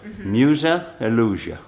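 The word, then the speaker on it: Muzej iluzija: say illusion in Croatian illusia illusia and museum Musa illusia Musa illusia Musa illusia mujhey illusion I'll get it okay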